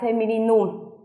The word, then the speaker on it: Femininum: Giống cái trong tiếng Đức người ta đọc là Femininum, ký hiệu bằng chữ F, tức là lấy chữ cái đầu tiên của chữ Femininum.